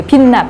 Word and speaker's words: 빛나: 근데 제 이름이. 이제 베트남 사람들한테 제 이름을 얘기하면은 그 빛나 발음을 못하니까 비나라고 불러요.